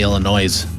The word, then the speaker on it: Illinois: Every people say Illinois and I'm like the S is silent.